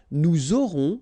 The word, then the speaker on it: nous aurons: J'aurai, tu auras, final S not pronounced, il aura, elle aura, nous aurons, final S not pronounced, and then you make